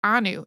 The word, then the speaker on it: ANU: it's all uppercase but it's not an acronym it's a word so it's pronounced like Anu in Hebrew Anu means us or